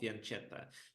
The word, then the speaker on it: fianchetto: what do you guys how it's better to pronounce faneta or faneta because originally this is Italian word and in Italian it sounds faneta similar as it sounds in Russian however uh most of